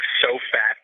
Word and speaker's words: SOFAT: And if you spell it out, it would sound like SOFAT, SOFAT, SOFAT. And if you want to blog, you need to be so fat.